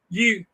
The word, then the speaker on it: Eutaw: Now I don't mean UTAH. I don't mean that. Spell that there in Alabama. You mean like EUTAW. Just exactly how it sounds.